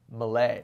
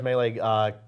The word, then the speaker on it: Melee: super smash brothers melee or as i pronounced it back in 2014 malay yes and the kind the the viewers noted that i gotta come in here from the real he says pronounce melee correctly seriously seriously seriously seriously it's a serious issue Malay actually you know what I'm just gonna I know how to pronounce it properly and I'm just gonna keep or melee it's gonna I'm just gonna switch to melee like everyone's angry okay